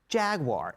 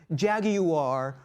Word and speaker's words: Jaguar: of all I applaud you for it correct pronunciation jaguar and I hear people say jaguar or jagu or Jaguar wire it's just say